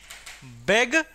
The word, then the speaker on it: Begrüßung: Begrüßung. Speak with me. Begrüßung. This beta sign give the sound of double S.